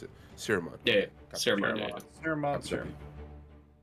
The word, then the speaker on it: Siromon: Siromon, yeah. S-I-R-O. Yeah, no, I see it in the M-O-N. veiled light thing. I'm Gotcha. just trying to figure out how to pronounce it. Siromon.